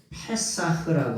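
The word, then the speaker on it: פסח: 그런데 원래 원래 말은 페사흐라고 하는 말이에요. 패 페사흐라고 하는 말. 요게 요렇게 쓰고 패 사 흐라고 읽어요.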